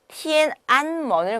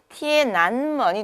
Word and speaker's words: 天安门: 자, 만약에 티엔안먼을 갖다가 여기 n하고 뒤에는 모음하고 연결해서 읽어버리면요. 티엔난먼이 되는 거예요.